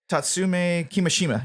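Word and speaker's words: Kimishima: if the president is Tatsumi ki Mishima yes that's how you pronounce it the original the president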